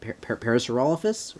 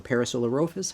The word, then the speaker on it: Parasaurolophus: fox riding a Paris Parasaurolophus or parasolarosis however you pronounce that I say Parasaurolophus got some wolf designs